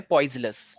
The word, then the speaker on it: Poiseuille: जो मेरे पास पोर्शन है उसका नाम है पॉइजलस। ठीक है, तो पॉइजलस बोलते हैं इसे। तो इस लेकिन इसकी स्पेलिंग याद रखना, पॉइजे, पॉइजी, पॉइज, यू ई एल एल ई।